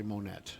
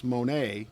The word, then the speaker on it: Monet: fall for that and say monnet I was gonna say I think you're pronouncing it wrong a lot of folks would fall for that but not me I know it's Monay Monay yeah his Waterloo Waller